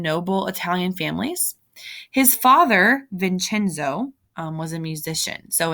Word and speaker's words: Vincenzo: His father, Vincenzo, was a musician. So in Italian, that C is pronounced CH, so Vincenzo.